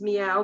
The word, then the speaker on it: Miao: and it's called mistress m-i-a-o which we pronounce is meow but m-i-a-o and this